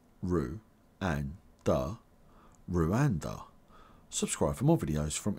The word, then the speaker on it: Rwanda: Tanzania and Uganda and you pronounce Rwanda like this Rue and da Rue Rwanda subscribe for more videos